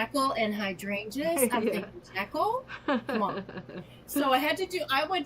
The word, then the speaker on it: Jekyll: And this is the same Jekyll of Jekyll and Hyde, right? The correct pronunciation is Jekyll, but we've gotten Okay.